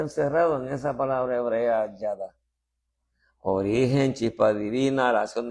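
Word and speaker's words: ידע: El desglose aquí de estas 3 letras que unidas se pronuncia Yada, ¿verdad?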